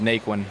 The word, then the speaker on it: Naquin: uh no it's just we'll just keep it as nake one because it's kind of tough to pronounce the other way all right yo gotta